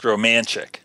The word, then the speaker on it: Romanchik: It's pronounced Romanchik. Romanchik. As right. If like you're romantic, but Romanchik.